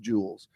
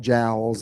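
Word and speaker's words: joules: I'm thinking about it the word for measurement of energy j-o-u-l-e-s is pronounced Jewels doc told me that two or three other people mentioned that I just wanna I didn't want to call it jowls and it'd be you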